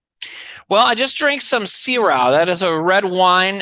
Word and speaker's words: Syrah: before it's very sweet is it Syrah Que Sera Sera a little too sweet for me I like my one more bitter Malbec or Merlot anyways so you know the song that's how you pronounce the the Syrah they're still completely differently so I'm not gonna make the oh yes sir all the whiners s-y-r-a-h where que sera seras s-e-r-a with an accent oh which means we'll